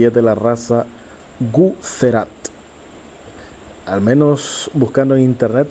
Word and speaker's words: Guzerat: es de la raza guzerat al menos buscando en internet se escribe con z Por eso digo guzerat o como decimos nosotros guser Así es que ahí